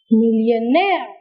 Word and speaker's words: millionaire: Where do you put the syllable? On the last syllable.